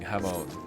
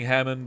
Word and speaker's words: Hamon: Well, yeah, that's the JoJo thing, Hamon. But I'm not talking JoJo. Hamon. It is spelled the same though. I don't know. I've just been saying Hammond because it's easier on my Midwest accent.